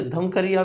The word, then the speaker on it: धूमकरिया: उसे बोला जाता है धूमकरिया। क्या बोला जाता है? धूमकरिया। कहीं कहीं पे धमकरिया भी लिखा है, लेकिन जो प्रोनाउंसिएशन है वो धूमकरिया है।